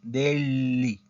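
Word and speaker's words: degli: de del Deli Ok Esa es la pronunciación Deli Li Entonces sería Deli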